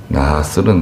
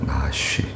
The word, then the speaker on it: 나하스: 나하스는 나하쉬라고 하기도 하는데요. 나하쉬 원래 발음은 나하쉬입니다. 나하쉬 뱀이란 뜻이에요.